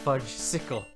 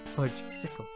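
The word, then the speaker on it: Fudgsicle: It's pronounced Fudge Sickle. Fudge Sickle.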